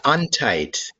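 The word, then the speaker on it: Untedt: you what is your last name uh untight it's spelled u n t e d t and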